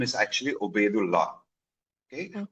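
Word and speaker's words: Obeidullah: I don't know what is how can we pronounce it and what does it mean? So uh my entire name is actually Oedu law.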